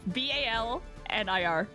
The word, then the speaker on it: Balnir: Do you say Balnier? Is that right? Balnir.